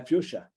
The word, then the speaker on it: fuchsia: fuxia hello we well in English you pronounce it fuchsia oh sorry okay uh fuchsia uh we say fuchsia